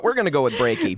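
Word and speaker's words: Breakey: I believe it's Brakey. His first name is, so maybe we'll just call him from now on. Brakey, as in heartbreaky. Yes, this is Yeah.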